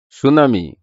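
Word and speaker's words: tsunami: এর উচ্চারণ হয় না সুনামি কারণ এটা টি এর উচ্চারণ হয় না আইল্যান্ড কারণ এটা এস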